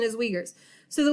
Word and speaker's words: Uyghurs: example let's take the uyghurs they're the u-i-g-h-u-r-s so not ever how i thought i was supposed to say it but that is actually the correct pronunciation as uyghurs so the uyghurs actually they're having re-education